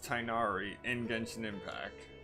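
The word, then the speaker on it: Tighnari: all right so it is definitely pronounced tynari in gunshin impact all right wonderful more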